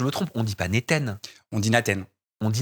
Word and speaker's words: Naten: Bon, en gros, si on le prononce entre le A et le E, ça marche. C'est Nathan, c'est cool. C'est Ça joli passe. Néten.